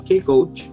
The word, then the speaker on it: K-Coach: Sí, nosotros al método de coaching que yo creé le llamamos K-Coach, ¿sí? Para hacerlo sonar como la palabra llave también en inglés. Key.